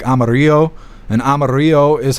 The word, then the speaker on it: Amarillo: It's Amarillo, but in Spanish, Amarillo is is spoke like Amaro and Amaro is how you say yellow in Spanish.